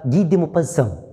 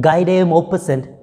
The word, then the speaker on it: Guy de Maupassant: of HORLA, written by Guy de Maupassant. Right, he's a French writer, French short story writer, and when you read it by its spelling, you may read it Guy de Maupassant, but the real pronunciation is Guy de Maupassant.